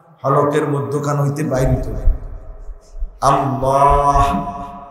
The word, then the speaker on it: আল্লাহ: এ হা উল উচ্চারণ হলকের মধ্যখান হইতে বাইর হইতো আল্লাহ শেষে একটা ছোট হা আছে আল্লাহ এইযে এই এটা